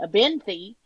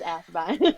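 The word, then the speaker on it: Athebyne: According to audio, it's Abbe is how they say it. Abbine. But I hear so many people say it very differently. I just go with what the audio book says. Abbine. Um, I'll say it wrong. Um, my brain wants to call it a benthy, which is not what it is. It's a bine.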